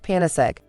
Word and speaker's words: Panacegg: goddess of universal remedy we combined this with the word egg and so it is pronounced panis egg and so what is